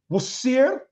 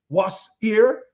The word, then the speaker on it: Osiris: Osiris we see that Osiris is pronounced in two ways wasir and oar Smash and I know